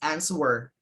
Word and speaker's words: answer: mountain okay and four said the silent uh w in answer maybe the answer were okay it's answer okay inaccurately so apart